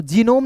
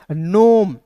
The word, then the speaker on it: gnome: उसके बाद देखिए GNOME, तो जीनोम नहीं पढ़ेंगे, इसे पढ़ेंगे NOME को पढ़ेंगे दोस्तों नोम।